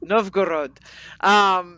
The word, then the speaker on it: Novgorod: Novgorod.